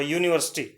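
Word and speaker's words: university: यू, यू देखने में तो क्या है वावल है, जिस तरह यूरो में ई वावल है, बट इसकी आवाज जो उच्चारण होगा वो य से होगा। यूनिवर्सिटी, यूनिवर्सिटी, यूनिवर्सिटी में यह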